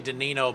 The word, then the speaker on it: Danino: It's actually Danino, but I think we're going with Dino.